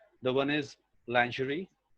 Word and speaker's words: lingerie: know and lingerie they're the only twist is over here the sound is it is the sound which is in measured pleasure yeah that should be